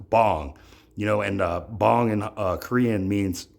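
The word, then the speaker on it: 방: I call it the Big Pang theory, a play on my last name, P-A-N-G, which in Korean is actually spelled B-A-N-G, but it's pronounced bong, and bong in Korean means a room, right?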